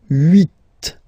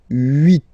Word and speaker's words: huit: So, huit, huit. Remember in French, this H letter here, okay, doesn't exist phonetically, so we don't really pronounce it, okay?